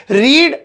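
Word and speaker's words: read: ये लिखी तो रीड जाती है, लेकिन ऐसे पढ़ी जाती है, रीड, रेड, रेड, है ना।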